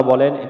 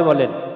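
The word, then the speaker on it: ب: এইভাবে আমরা শিখবো বা বা উচ্চারণে আমরা এই দুইটি ঠোঁট থেকে আমরা বের করব বা বা এরপরে আমরা শিখবো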